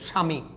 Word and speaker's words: স্বামী: ব ফলাটা কি, শব্দের শুরুতে ব ফলা থাকলে উচ্চারণ হবে না, মাঝখানে এবং শেষে থাকলে দ্বিতীয় উচ্চারণ হবে, অনেকটা ম ফলার মতো। আপনি দেখেন শুরুতে আছে, এখন ব ফলাটা শুরুতে আছে, উচ্চারণ হচ্ছে না, কিন্তু দন্তস্বটা কি হয়ে যায়, তালবশ হয়ে যায়, স্বামী।